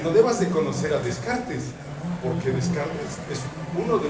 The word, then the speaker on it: Descartes: piden que revises a un señor que se llama René Descartes pero que lo pronuncies decart y que de preferencia